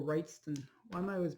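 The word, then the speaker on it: Wrightson: And Bernie Weinstein. And it's just or Wrightston.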